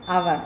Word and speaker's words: hour: But here H is a silent letter before O. That's why here we have to see only the sound, A sound here. So we can use an before hour. We have to pronounce as hour, not hour.